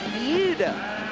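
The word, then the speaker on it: Buda: Ron Hawkins is up next he's out of Buddha Texas you know I got the cor correct pronunciation that Bea is that right yeah Bea Texas what they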